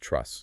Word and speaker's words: TRUS: It's typically performed under ultrasound guidance, specifically transrectile ultrasound or trus. You'll often hear it pronounced truss.